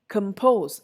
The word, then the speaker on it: compose: first syllable is stressed in the next set it is not the first syllable it is the second syllable above i don't say about i say above i don't say begin i say begin compose i don't say compose i say compose next set liberty franchisee